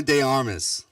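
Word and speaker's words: de Armas: I believe it's de Armis is how they say it.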